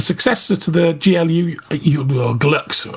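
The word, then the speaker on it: Glulx: The successor to the GLU, or Glux. I think it's Glux it's pronounced, isn't it? Or Glulux, yeah. Or Glulux, yeah, Glux. Glulux. There we go. We're going to go with Glulux, all right?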